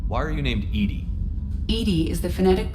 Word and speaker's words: EDI: the medical bay why are you named edie edie is the phonetic pronunciation of edi that is an acronym for